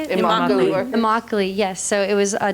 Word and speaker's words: Immokalee: Immokalee, yes.